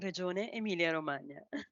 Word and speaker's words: Regione Emilia Romagna: Regione Emilia Romagna. Can you pronounce it for me, please? That's Regione Emilia Romagna. Oh, much better.